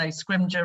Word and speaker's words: Scrimgeour: No one can ever pronounce my surname, so Scrimgeour rhymes with ninja is normally the easiest way to remember how to pronounce it.